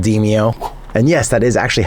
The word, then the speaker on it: Demeo: If you can't tell, I'm a big fan of a VR game called Deio. And yes, that is actually how it's pronounced, even though everybody tries to call it Deio.